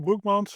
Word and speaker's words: Broekmans: Uh my name is Bmont. I'll pronounce my last name myself because it easier.